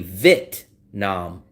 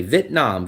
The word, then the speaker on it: Vietnam: I forgot what their channel is, and they'll say Vietnam, Vietnam. They don't pronounce the E. The only thing that I'm missing is the E.